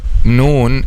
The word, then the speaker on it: ن: when pronounced letter noon the first common mistake is making litter known a heavy letter instead of making light letter because letter known is a light letter so the first common